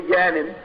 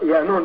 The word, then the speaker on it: Yanun: They say Yanin, it's pronounced Yanun, depending on the dialect of what galaxy you're in, the pronunciation changes.